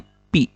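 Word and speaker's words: π: Ini dibacanya pi ya. Pi. Pi dikali R pangkat 2.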